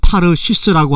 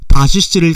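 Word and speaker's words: תרשיש: 요나는 원문에 나타난 발음대로 타르시스라고 하는 곳으로 도망하려고 했다는 기록이 분명히 나와 있습니다. 타르시스 즉 다시스를 가려면 요빠라는 항구에서 다시스로 가는 배를 타게 되어 있습니다.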